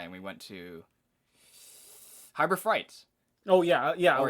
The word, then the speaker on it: Harbor Freight: you and I, and we went to Harbor Freight. Oh yeah, yeah. Or is it Harbor Freight? Harbor Freight. Why do you keep on saying Frights? God, Jesus Christ. keep the Frights.